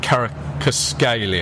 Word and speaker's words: Kvaratskhelia: and there's the player that I can never pronounce. Is it Kvaratskhelia?